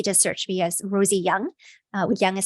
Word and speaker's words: Yeung: should be easy to search me as Rosie young uh young is spelled y-e-u-n-g and I have more information about